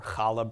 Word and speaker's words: challah: also known as Chanukah it's actually pronounced Hanukkah or challah bread okay it's that sound Ruach alright it takes